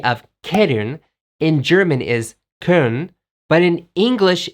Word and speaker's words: Köln: And historically, major cities in Germany also have a little bit different pronunciation. For example, the German city of Köln in German is Köln, but in English, it's Cologne.